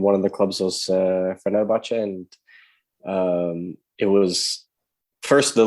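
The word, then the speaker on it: Fenerbahçe: Yeah, Fenerbahce.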